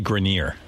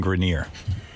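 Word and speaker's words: Grenier: It's actually Grineer. Adrien Grineer.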